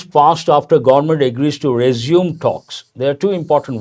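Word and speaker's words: résumé: Resume, actual pronunciation, a French word, resume.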